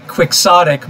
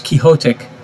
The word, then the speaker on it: quixotic: Americans say quixotic, but actually it's quixotic, because it's Don Quixote. But Americans don't know that, so they say quixotic.